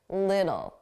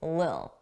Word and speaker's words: little: du a soft D Little D Little D little little now some native speakers will drop those sounds entirely and it will just sound like Lil Lil and then we